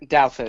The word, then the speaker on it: Douthat: Douthat, is that it? Douthat.